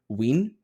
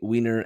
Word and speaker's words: Wien: That must be how you pronounce it if Wiener and Wienerwurst are pronounced the way they are. Well, that's why I went with Wien.